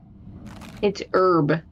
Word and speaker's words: herb: say herbs herb herb you guys don't pronounce the h in herb you know we don't pronounce the h in her herb it's herb it's not herbs you